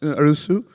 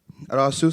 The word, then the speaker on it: Arasu: your next speaker uh our speaker is rajis arusu arasu sorry for you know mispronouncing your name uh as stubhub's chief technology